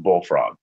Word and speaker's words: BLFRG: For example, the spelling of BLFRG is pronounced bullfrog.